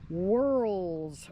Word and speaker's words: whorl: this thing within horsemanship called WHL lore that's spelled w h o r l War lore okay it's hard to say whirl lore and um it actually